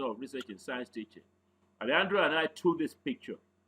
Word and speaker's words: Alejandro: Mind how I pronounce the name. I didn't say Alejandro. Spanish pronunciation is Alejandro.